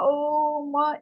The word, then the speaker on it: ओम: अ ओ म, एक ही शब्द का।